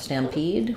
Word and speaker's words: stampede: Actually, the stress is on pede here, not on stam.